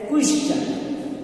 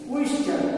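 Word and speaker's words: question: جیسے کوشچن، کوشچن. اب یہاں پہ کوشچن میں ٹی کے بعد میں آئی او این آیا ہے، اس لیے اسے چا کی آواز دے رہا ہے.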